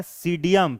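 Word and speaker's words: Psidium: ग्वाभा अमरूद का होता है सीडियम, पी साइलेंट है, ठीक है, पी साइलेंट है। क्या पढ़ते हैं? सीडियम ग्वाजाभा, सीडियम ग्वाजाभा।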